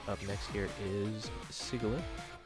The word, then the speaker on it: Sigilyph: Alright, looks like up next here is Sigilyph. Or Sigilyph, I don't know. Yeah, Sigilyph is actually correct pronunciation.